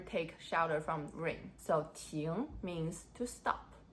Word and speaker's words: 亭: about three characters today tune tun tune yes they all pronounced as tune of course with different